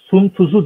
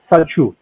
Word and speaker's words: Sun Tzu: Okunuş şekline göre Sun Tzu diye okunuyor ama aslında Saçu.